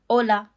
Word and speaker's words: hola: Hola. Hola. Very good. It's important to note that H in Spanish is always silent. No exceptions. So, we don't say hola. It's just hola.